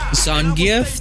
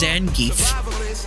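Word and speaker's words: Zangief: Zangf, that's how you pronounce that. I thought it was pronounced Zengeek.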